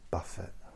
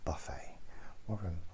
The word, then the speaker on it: Buffett: I know it's pronounced Buffett, but I like Buffett.